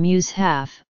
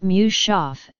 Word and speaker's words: mushaf: In the Arabic word mushaf, a transliteration of, the syllables are as in mushaf, not mushaf.